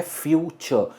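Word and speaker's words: future: ये है फ्यूचर। इसमें जो एंड में आर प्रोनाउंसिएशन है आर की, वो हम आर प्रोनाउंस नहीं करते। इट्स फ्यूचर, एंड में अ साउंड आता है, फ्यूचर।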